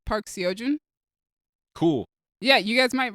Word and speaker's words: Park Seo-joon: it's Park Seo-joon.